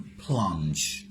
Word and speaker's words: plunge: আর একটু কঠিন ধরো, PLUNGE, দেখো প্লুঞ্জি না, কি উচ্চারণ? প্লাঞ্জ।